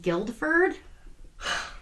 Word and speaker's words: Guildford: he misspelled the town guildford the correct spelling is g-u-i-l-d-f-o-r-d right like a guild he forgot the d oh my god you would think you would spell it without the u or something no no